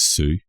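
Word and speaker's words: Sioux: Native American ha so I think this is Sue so as in the Sue s o ux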